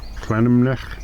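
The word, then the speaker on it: Llanymynech: Llangymynech. Yeah, so it's like Clanumnech, or something like that.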